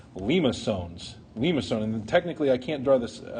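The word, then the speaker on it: limaçon: Limacone, and technically I can't draw this accent mark, but there's a little accent mark on the bottom of the C. Okay, bottom of the C. It's pronounced limacone.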